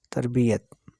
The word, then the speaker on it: تربیت: دوسری تے پر جزم۔ یہ پر شد ڈالنا بالکل غلط ہے۔ تربیت کے معنی ہے پالنا، حسن اخلاق کی تعلیم دینا، ادب سکھانا، تہذیب سکھانا، پرورش کرنا۔ تو اس کا صحیح جو تلفظ ہے وہ کیا ہوگا؟ تربیت۔ کبھی بھی، ابھی بھی۔